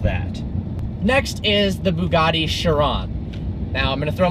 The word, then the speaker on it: Chiron: next is the bugatti chiron now I'm going to throw my friend James onto the bus here it is not the Bugatti cry on that is life in